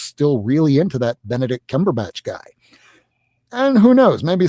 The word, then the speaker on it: Cumberbatch: And I mean until Doctor Strange was in a movie starring uh Benedict Cumberburch, Ben Benedict Cumberbatch, the guy that plays him from Sherlock.